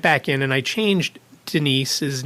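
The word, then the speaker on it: Denice: So it sounds like Dennis. And my phone does the same thing. My phone says Dennis all the time.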